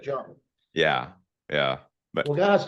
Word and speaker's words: Chung: Yeah, it's That almost like Jung, Jung, but Chung.